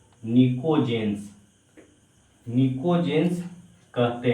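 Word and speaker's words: pnictogen: इसको नको जनस बोलते है नको जन प साइलेंट है निको जेंस निको जेंस कहते हैं य निको जनस क्या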